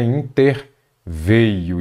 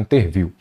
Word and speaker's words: interveio: ele veio se é ele veio é ele interveio Muita gente fala interviu paralização é com s